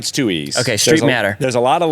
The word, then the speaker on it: Streitmatter: of Street matters around so that's how everybody pronounces it and it was just easier to go it Street matter just like it's too easy it's easy yeah